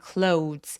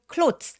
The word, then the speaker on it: clothes: clothes라고 오우라고 꼭 소리 내주시고요. clothes 아니에요. 그냥 clothes. 마치 디귿 받침으로 th를 처리하고 clothes. ts로 끝나는 것처럼 요거 이름절자리 발음입니다. 내 눈에 아무리 o와 e 모음이 두 개가 보인다고 하더라도 clothes라고 하지 않아요. clothes라고 이름절로 발음해 주시면 됩니다.